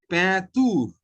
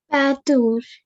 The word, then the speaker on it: peinture: Don't think like English. It is a different language. It is peinture. Patur. Very good.